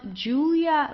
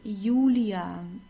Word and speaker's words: Julia: and then we have the J which is pronounced like the English y so it's it's not Julia like in English it's Julia Julia okay Julia there yanu